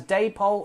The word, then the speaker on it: Dapol: The reason being that it was the company name comes from David and Polly, who were the two people who founded the company.